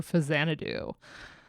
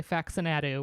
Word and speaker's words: Faxanadu: This is Jun Chikuma's soundtrack for Fazanadu, 1987. I said it right. I didn't say Faxanadu, which is what we like to call it on stream. Fazanadu.